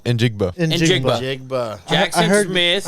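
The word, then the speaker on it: Njigba: How do you say And Jigba.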